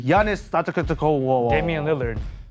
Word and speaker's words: Antetokounmpo: Is it A, Damian Lillard, or B, Giannis Antetokounmpo?